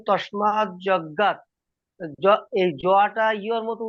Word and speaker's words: যজ্ঞাৎ: না, জ উচ্চারণ করা উচিত নয়, ইয়া হবে। ওম তস্মাৎ ওকে। যজ্ঞাৎ যখন আপনি কি বলে সুর করে বলবেন তখন আপনাকে ইয়া বলতে হবে।